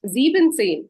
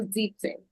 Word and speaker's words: Siebzehn: Again, not Sieben, but Sieben, because well, it's very long. All these previous numbers were kind of 2 syllables, making our life so keeping it simple. But Siebenzehn, it's too many syllables, no? Getting longer. So Siebzehn.